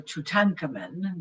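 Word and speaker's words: Tutankhamun: of tutan um uh or tanaman which is the way it the hieroglyphic is pronounced uh he kind of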